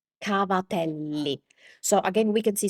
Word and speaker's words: cavatelli: The Italian word for that is cavatelli cavatelli So, again, we can see some similarities. Uh first of all, we need to pronounce the ending vowel.